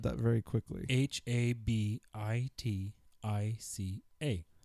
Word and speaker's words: Habitica: Habitica. Oh, like habit. Habitica. Habitica. Mm-hmm. Gattaca and habits put together.